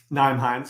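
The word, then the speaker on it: Nyheim Hines: Naeem Hines, yeah.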